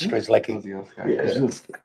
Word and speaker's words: Strzelecki: growing up in Canberra, now it's Strzelecki. Like Sharon.